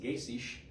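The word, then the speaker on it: Geysir: thermal area it's uh the geyser is actually pronounced Gish uh in Icelandic and the hot spring is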